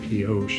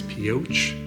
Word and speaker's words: Pioche: I've been saying Pioche, and I think it's Pioche. Like not a sh, but a ch at the end of it.